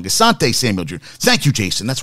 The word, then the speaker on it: Asante Samuel: Asante Samuel Jr.